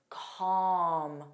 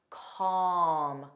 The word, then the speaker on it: calm: Like talk, talk, walk, chalk, calm, calm. So alm don't pronounce the L.